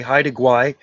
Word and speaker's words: Haida Gwaii: How do you spell that island? Haida Gwaii? Haida. Haida. Haida. Haida. Is that right? Haida? Yeah, Haida. Haida Gwaii.